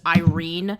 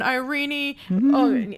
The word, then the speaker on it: Irene: name even though that according to what i've heard in like welsh and hungarian uh pronunciations that is the actual pronunciation of the name as opposed to just irene so i just thought